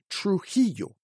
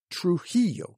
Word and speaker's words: Trujillo: it's got both there and number 98 is Trujillo Trujillo so it's got both of them the La Jolla rule of pronunciation t-r-u-j-i-l-l-o Trujillo the surname via v-i-l-l-a as